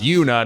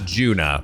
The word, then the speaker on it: Yuna: It's Yuna here, and yes, it's pronounced Yuna, not Juna, who's a little cutie